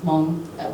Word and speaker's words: Hmong: capital M, sorry, because that includes Hmong with the aspirated H when you say Hmong, right? And then also the capital M, which is Hmong Ling, because when you say Hmong Ling, you don't have an aspirated H.